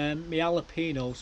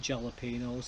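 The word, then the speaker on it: jalapeños: My jalapenos are not jalapenos. I can't always pronounce them with the J. They're not the jalapenos.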